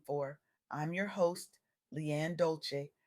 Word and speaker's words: Dolce: I'm your host Leanne Dolce pronounced dolce like sweet softness whispered in French.